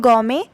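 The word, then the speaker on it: gourmet: इसको प्रोनाउंस करते हैं गौमे, स्पेलिंग टी जो है वो साइलेंट है।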